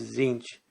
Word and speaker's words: Tzeentch: at the maze of zinc i'm going to be pronouncing that way because both teas are silent the maid of siege